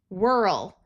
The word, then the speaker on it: whirl: Whirl. Notice this H is silent.